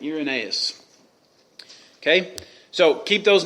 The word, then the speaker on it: Irenaeus: We're going to look at a man named Ignatius, a man named Polycarp, Justin Martyr, and Irenaeus is how you say that name. Irenaeus.